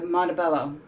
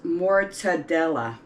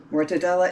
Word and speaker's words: mortadella: ahead and make the montebello i'm sorry i'm pronouncing this wrong it's more todela mortadella is a mild smooth